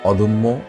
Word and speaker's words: অদম্য: যেমন অদম্য। অদম্য শব্দটা এখানে দয়ের সাথে অ আছে, এরপরে জফলা আছে, এই জন্য দয়ের অটা ও এর মতো উচ্চারণ হয়েছে।